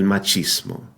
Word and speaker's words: machismo: is simple the the letter combination CH in Spanish is pronounced like the CH in the English words cheese or China right muchacho which has two CH combinations muchacho El machismo CH muchacho machismo easy